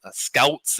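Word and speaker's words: Schoutsen: polish uh scouts and scouts and i'm he always tells me you got to pronounce my last name like there's a g after the s and i it's hard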